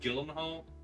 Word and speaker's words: Gyllenhaal: pronounced Gyllenhaal.